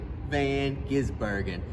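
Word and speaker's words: van Gisbergen: third one s v g the V8 super van gizbergen that's how you say it Rick Allen that's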